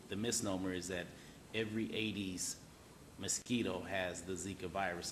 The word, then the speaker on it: Aedes: Aedes. I always spell it because it sounds like I'm saying Hades or 80'S or something else.